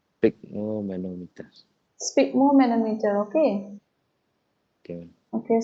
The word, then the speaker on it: sphygmomanometer: I don't know how to pronounce this one, ma'am. Sphygmomanometer, you say? Sphygmomanometer.